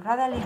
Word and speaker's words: gradually: So how do we pronounce the D? Gradually, like j. J. No, like John. Gradually. Gradually. And crazy, no? You see a D, but you say j.